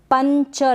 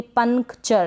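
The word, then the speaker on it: puncture: अब ये जो एन है ना इसका जो उच्चारण होगा थोड़ा सा होगा, क्योंकि ये आधा न है। पंचर, ऐसे नहीं बोलेंगे पंक्चर, नहीं, पंक्चर।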